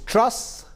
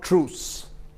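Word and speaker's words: Truss: report india today it's trus not truce i've got my pronunciation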